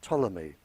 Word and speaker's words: Ptolemy: Greek living in Egypt by the name of Ptolemy spelled with a P he very famous scientist